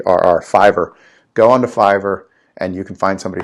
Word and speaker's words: Fiverr: no no problem there is a site called fiber and it is spelled f I the theism Victor are are fi v RR fiber go onto Fiverr and you can find somebody for like 5